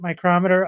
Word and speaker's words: Micrometer: Because I always say, like, I most of the time say micrometer, but there are certain times where I think I get stuck and then I just say micrometer. And I hear people say it both different ways, but since you just pronounced it micrometer, I think that's the official way.